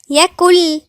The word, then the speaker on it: يكن: ولم يكن، كل ما نقولش يكن، النون لا تنطق نهائي كأنها مش موجودة، كأن احنا بنقول كاف واو لام. يكل، يكل.